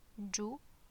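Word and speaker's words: جبن: So jubn, jubn, jubn, jubn. Notice how there is no vowels after the ba, it's just the ba sound.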